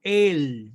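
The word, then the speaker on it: אל: escribe al flamengo y se pronuncia él como una larga significa a o para en el sentido de estar dirigido hacia alguien y es muy particular porque es una palabra como grafa con la palabra que se usa para designar a la deidad él también significa dios recuerde que la a y la e en las lenguas semíticas básicamente se pronuncian igual es una especie de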